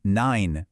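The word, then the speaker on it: nein: When you see EI, it sounds like I, as in nine, meaning no.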